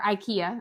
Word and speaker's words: IKEA: two weeks ago or a week ago it Ika or Ikea that's how you guys um pronounce it here but um it it was